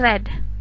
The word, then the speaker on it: read: berubah menjadi past tense tulisannya tetap sama read tapi dibacanya read Kayak misalnya tapi tulisannya tetap dalam tulisannya tetap read cuman pengucapannya jadi red itu untuk membedakan mana